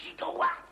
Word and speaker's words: gigawatt: 2,21 gigawatts 2,21 gigawatts Mon Dieu! Mais enfin, c'est quoi un gigawatt? Alors, d'abord, ça se prononce gigawatt.